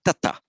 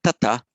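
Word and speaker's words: तत्: that would be pronounced tata. But it's not tata, it's tat. So you put that stroke under the T to indicate that there's no vowel following, just tat, as in om tat sat.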